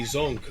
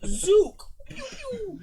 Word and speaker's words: Zook: This is the Zonk of the flyer. It's Zook. Zook. Well, you spelled your name wrong.